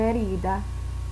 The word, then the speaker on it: herida: Una herida, because the H is silent.